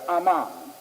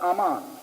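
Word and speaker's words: Amman: land of ancient Moab is Aman not Ammon but Aman they spell it somewhat differently but it comes from the old word Ammon here Aman and we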